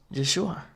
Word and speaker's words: Yeshua: And it's not Jeshua, it's Yeshua.